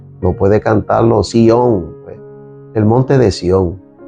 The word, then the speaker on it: Sion: A veces hasta hasta le ponemos un acento en la y le llamamos Sion. Es Sion. Es Sion, es Sion sin acento, el lugar del gran